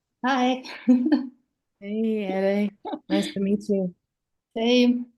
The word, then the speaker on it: Ere: Yeah, Sounds like I was pronouncing your name as Era, correctly. Yeah. Era, but it's Ere, right? Yeah. Yeah. Yeah. Ere.